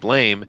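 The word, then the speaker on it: BLAME!: Westerners always say blame, blame, blame because that's how they spell it. But that's actually a misspelling by the creator, thinking that's what the sound of a gun going off is. Blam, blam, blam.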